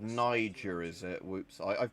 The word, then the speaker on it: Niger: Oh, it's called Niger, is it? Whoops, I've pronounced it wrong all these years.